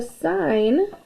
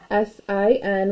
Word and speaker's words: sine: each ratio so the sign we write this as s i n when we abbreviate it but it's still pronounced sign not sin of an angle and